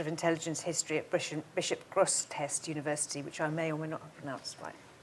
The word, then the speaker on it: Grosseteste: She's lectured in several universities, and she's an associate professor of intelligence history at Bishop Grosseteste University, which I may or may not have pronounced right.